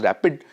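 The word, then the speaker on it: RAPD: the first one is RPD sometimes pronounced as rapid this was one of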